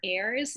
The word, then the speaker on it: heirs: and all of her heirs, and heirs is spelled with an H, and it's such a,